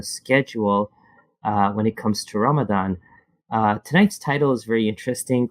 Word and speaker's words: Ramadan: And we're talking about there's three different ways, or three distinct ways that you and I speak or hear the word Ramadan. So you have number one, the ramen noodle type, Carl, and those are the Ramdans. So you guys are fasting in Ramadan. So you have the Ramdans. Then you have the Indo-Pak culture that calls it Ramzan with a Z.